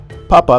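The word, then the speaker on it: papá: Papa means potato, while papa means dad. In other words, you must pronounce the second A with a prominent high intonation, otherwise you'll find yourself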